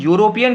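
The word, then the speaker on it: European: आ क्यों लगा, क्योंकि यूरोपियन को जब हम प्रोनाउंस करते हैं तो या बोलते हैं। यहाँ जो ई है, ई यू is pronounced as वाई यू।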